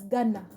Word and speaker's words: Gunna: Yes, but Nedda, in this whole scenario of Young Thug, we've been telling you the YSL, the Oshmani Guna is pronounced as Ghana.